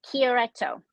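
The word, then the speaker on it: Chiaretto: 2022 Valtanesi del Garda Chirietto. Okay. Oh, this is going to be fun. Did I say it right? It's Valtanesi, and it's Chirietto. So I said it so wrong.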